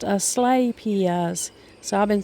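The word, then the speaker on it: Asclepias: root the asaps as Claus tuberosa and it's pronounced a slay Pia does so I've been saying that wrong it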